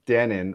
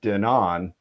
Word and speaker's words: Denon: Well, one thing I love about Denon or Denon, whichever way you like to pronounce it, is they have this history.